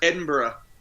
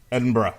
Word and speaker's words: Edinburgh: and sorry did I mispronounce it yes it's pronounced Edinburgh Edinburgh okay got it yep so just moving on